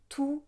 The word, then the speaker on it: tous: Et ici, on ne va pas prononcer le S de tous. On va dire tous mes amis. Tous mes amis. Par exemple, on va dire tous les pays, tous les jours, tous les problèmes.